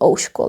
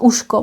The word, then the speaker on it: ouško: Could be ouško like this. It comes from ucho. Ucho. You see the change. Change to sh. And we added O here as well. Ouško. Not uško, but ouško.